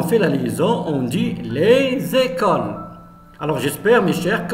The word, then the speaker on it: les écoles: On a les écoles. Les écoles. On fait la liaison. Les écoles. La même chose. S entre deux voyelles.